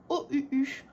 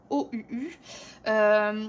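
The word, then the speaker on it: Ohuhu: Ce sont les feutres à alcool OUU. Donc ça s'écrit O-H-U-H-U.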